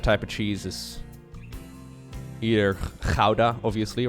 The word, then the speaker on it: Gouda: My favorite type of cheese is either Gouda, obviously, right? That's the pronunciation.